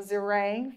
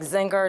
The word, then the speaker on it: Zeringue: our wonderful Zeringue from the Tigers. Hi, everybody. Hi. And thank you for pronouncing my name correctly. Nobody ever does that. It's like Zinger, Zengaroo, it's every, anyway.